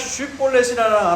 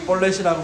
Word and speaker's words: 쉬볼렛: 그런데 만약 쉬볼렛이라 안 하고 벌렛이라고 말하면 죽이는 거예요.